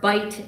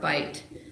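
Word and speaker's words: bight: about 488,000 Acres they call it the New York bite area b i g HT which the word bite means an indentation in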